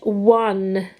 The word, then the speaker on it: one: it is this one looks more like you blend it as honey but that's not how you that's not how it's it's said it's one and then